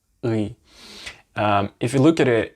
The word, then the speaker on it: ы: But a way to pronounce this, if you say the E letter, E, and instead of saying the normal E, you put your jaw a little bit backwards, like E, E, and you pronounce it from here.